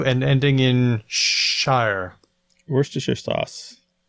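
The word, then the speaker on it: Worcestershire: and ending in Shire Worster sauce worsters Sher yeah you don't pronounce it like Massachusetts the city in Massachusetts how the place name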